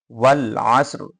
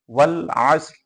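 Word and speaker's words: والعصر: শুনতে পারবেন কিনা মাইকে ওয়াল আসর মানে রটা আমরা উচ্চারণ করব কিন্তু র এর সাথে কোন পরিবর্তন ঘটাবো না আসর আসরি আসর এরকম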